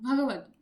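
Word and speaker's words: भगवत्: का मतलब क्या है भगवत भग भगवत मतलब ऐसे प्रोनाउंस करेंगे मतलब गॉड बट आल्सो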